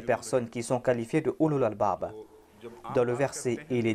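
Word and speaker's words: أولو الألباب: dit ulul albab, mais ici je suis en train de dire ulul albab avec dhamma. Certaines personnes pensent que je suis en train de mal prononcer ce terme. Quand on cite un terme, on le fait au nominatif avec dhamma. Mais au cours de la récitation du verset, on va prononcer ce mot tel quel.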